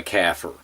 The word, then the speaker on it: kafir: And I, as well as Dr. Bill Warner, pronounce it kafir, almost like a cow's baby, a calf, and a type of conifer tree, a fir.